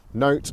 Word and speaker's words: nowt: area you're in so here in wigan we would say no but in central manchester they would say something like now mate what are you up to now mate now you see the difference